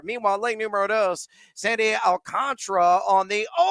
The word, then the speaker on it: Alcantara: It's Alcantara for those that may not be familiar with the actual pronunciation, but he likes the